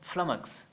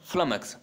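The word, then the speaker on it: flummox: फ्लमक्स, pronunciation ध्यान से देखना है, क्या बोलते हैं? फ्लमक्स। क्या बोलते हैं? फ्लमक्स, डबल एम है, लास्ट में एक्स है, फ्लमक्स।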